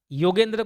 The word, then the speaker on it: योगेंद्र: योगेंद्र को योगेश ही प्रोनाउंस करते हैं। तो योगेंद्र नाम कोई लेता नहीं है। योगेश ही ज्यादा बोलता है।